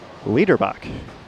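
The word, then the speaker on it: Liederbach: 55 and 56 and my apologies on the last name pronunciation it's Ryan lebach so thank you for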